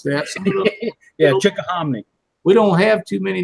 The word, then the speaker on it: Chickahominy: I was wondering how you pronounce that. Yeah, Chickahominy.